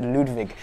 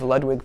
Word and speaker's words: Ludwig: a Ludwig upright over as the Germans would say it and pronounced Ludwig I was talking to someone who was German at the NAMM show and I was trying to tell them about Ludwig drums and they didn't get it until they made the connection then pronounce it Ludwig so I think that's actually how you pronounce this name in German but here in America here in the States we say Ludwig and Ludwig was a